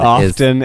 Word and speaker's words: often: is often that's right because that is the silent T often and soften that's right soften you know soft and often and soft soft and